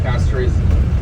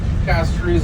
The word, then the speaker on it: Castries: It's actually called Castries, not Castries. It's spelled as Castries if you pronounce it in English, but the real pronunciation for it is Castries.